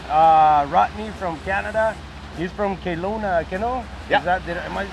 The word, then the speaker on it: Kelowna: He's from Kelowna, Kano? Yeah. Am I saying it right? Yeah, close enough. Kelowna. Close enough? Kelowna?